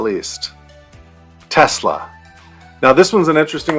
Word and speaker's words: Tesla: to note is that Elon Musk who is from South Africa actually pronounces it as Tesla but I say Tesla everyone that I I know says Tesla so that's an interesting